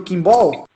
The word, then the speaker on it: Quimbol: E também em inglês, que é com B-A-L-L, Kimball. Os dois, a pronúncia é Kimball. a mesma.